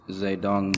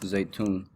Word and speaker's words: Zedong: And then make sure you know this, 1949, Mao, it looks Zedong, but it's pronounced Zaytun, becomes the leader of Communist China.